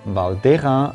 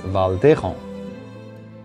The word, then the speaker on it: Val d'Hérens: has been taking over i assume that the pronunciation of this valley valdera roots in batwa itself reading the name in modern french would mislead one to pronounce it as valdejon i hope you've